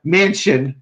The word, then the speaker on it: Manchin: Joe Manchin was the name. Okay. I swear to God, the names that we have here. Mansion, which rhymes with mansion.